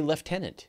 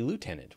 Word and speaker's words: lieutenant: but you know like we'll say we say leftenant here and if do not ya know you say lieutenant we say leftenant there's no athlete I know and yet why don't I don't know why we say it it's a British thing so we say it